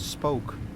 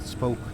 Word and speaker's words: spook: Uh, well, the Dutch word for ghost is spoke. Like, you know, like the English word spook. Oh, that's it's just that, but spoke pronounced as Dutch.